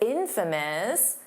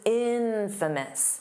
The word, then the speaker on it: infamous: Notice that pronunciation, because it's infamous. The syllable stress is on the in. So, it's not infamous. No, that's not how you say it.